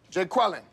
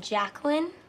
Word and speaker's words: Jacqueline: don't mess with me take a roll here Jay quellin what's Jay quillinet here yeah uh do you mean Jacqueline okay so that's how it's gonna be y'all